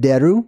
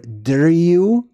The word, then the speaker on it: deru: So if we look up deru or driu, it's pronounced in different ways.